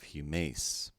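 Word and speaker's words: ἡμᾶς: Combining these sounds, then we have humace.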